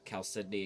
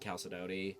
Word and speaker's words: Chalcedony: Just like Chalcedony and Chalcedony are both considered relatively correct. Although I believe Chalcedony is generally more accepted.